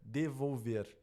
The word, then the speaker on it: devolver: Onde é que está a sílaba tônica? Devolver. Aqui, ó, devolver. A sílaba tônica é a última, então ela é uma oxítona.